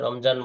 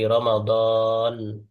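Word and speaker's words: رمضان: বারিকলানা রজাবাশা রমাদান রমজান মাস বাংলায় রমজান বলে এটার আরবি উচ্চারণ কি রমাদান এখন তো এখন এখন তো আরবি পড়তে পারেন।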